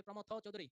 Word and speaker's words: প্রমথ চৌধুরী: উচ্চারণ হবে প্রমথ চৌধুরী।